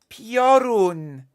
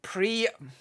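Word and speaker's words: Piorun: oh come on prun p i o r u n porun not pre okay I'll I'll stop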